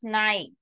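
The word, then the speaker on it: schneit: EI sound will be I sound. So, es night.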